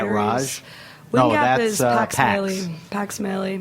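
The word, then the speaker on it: Mahle: So how do you pronounce his last name? Mali? Pax Maley. Pax Maley.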